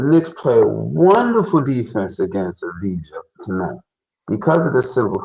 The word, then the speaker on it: Avdija: Avdija, he had a number of free throw attempts the first game.